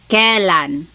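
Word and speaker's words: kailan: Then the word kan when you might hear some people say kalan sounds like an e but it's technically spelled with an a i.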